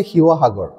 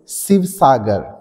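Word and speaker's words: শিৱসাগৰ: গপালে এটা সাবাদে তোমার কথা আমি এই শব্দট উচ্চারণ করার লগে লগে আমি তোমার কথা কই নাম হইছে হিহাগর কিন্তু যদি একজন হিন্দি ভাখি মানহে এটু যদি পহে তিটা টাকে পহিব শিবসাগর কিন্তু যেহেতু থাইডহর অহমত অবস্থিত তে হলে ইয়ার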